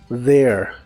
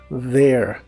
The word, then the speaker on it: there: significa ahí o allá en esta palabra la th se pronuncia como una d vibrante there there y usaremos la frase